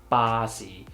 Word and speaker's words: 巴士: would be weird so we just say bossy release the airflow and pronounce the sound at the same time instead I would say